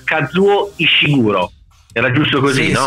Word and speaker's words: Kazuo Ishiguro: Mentre Anna, adesso io sbaglierò sicuramente la pronuncia, Kazuo Ishiguro.